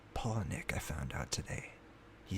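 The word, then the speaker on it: Palahniuk: pal paulineck i actually thought that it was polyneic or poloniac but apparently it's pronounced polynic i found out today he said it himself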